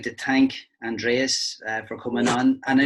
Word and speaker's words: Aindrias: you say it properly I think in Irish like in South converted to say on trees and clear to say entries and they name in